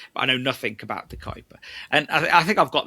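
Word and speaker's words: De Kuyper: The Kuiper. The Kuiper.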